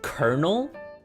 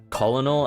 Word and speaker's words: colonel: Guys, is it Colonel or Colinol? I cuz I always pronounced colonal as how you read it.